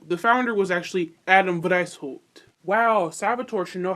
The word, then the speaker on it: Weishaupt: Adam Wienerschnitt. Adam White. Oh, Lord. Is that German? Wow, it is German. Wow, I should probably fucking know that. So, the founder was actually Adam Weishaupt.